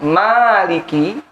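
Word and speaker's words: مالك: ya Ah Maliki yaumiddin kalau dibaca panjang Maliki tidak pendek tidak memiliki Maka kalau panjang Maliki memanjangkan Meme pada Maliki adalah qiroah Imam ashim berkilau kita nih pak kita panjang bacanya kan Nah batin Malikiyaumiddin adalah qiroah imam ashim dan Ali al-kisa'i cuma dua doang dari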